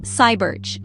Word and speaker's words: Sayburç: In this video, we're going to explore some amazing discoveries made at an ancient place called Sabers, pronounced Cybers.